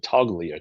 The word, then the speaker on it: Toglia: Um, Getting rid of, I think he pronounces it Toglia, Toglia, the big first baseman who is kind of a Joey Gallo.